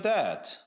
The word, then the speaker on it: debt: If you are in debt, 네가 만약에 빚을 졌어. debt가 빚입니다. B가 발음 안 되죠.